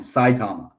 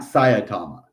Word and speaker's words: Saitama: always saitama yeah so i always did it as two syllables sayatama saitama hold on saitama okay that's where i was doing it wrong saitama not sayatama it's just saitama got it which one